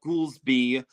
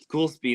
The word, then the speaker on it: Goulsby: It was spel it's spelled it's not spelled ghoul like G O U L. It's spelled uh G O L S B Y.